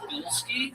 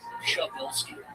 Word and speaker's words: Shabilski: All right, so the American version is Bilski, but I've been trying to get in touch. My roots and is Shabilski.